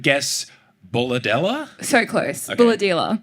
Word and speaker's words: Bullahdelah: Bulladella. Bulladella.